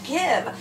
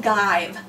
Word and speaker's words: give: e after it now in the word give we're not saying gibe and the word live